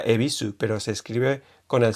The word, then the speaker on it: Yebisu: Existía antes un símbolo que era ye, me parece, pero era como en yebisu, pero que lo pronuncian E. O sea, sabéis que la cerveza y la estación de tren se pronuncia ebisu, pero se escribe con